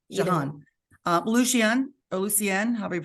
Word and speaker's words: Jahan: Jahan, is that how you pronounce her name? Yeah. John or What? Jahan? Jean or Jahan? Jahan.